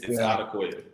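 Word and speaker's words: Odukoya: It's Odakoya. Well, we've heard about 5,000 pronunciations of Tua's name since he was a freshman in college.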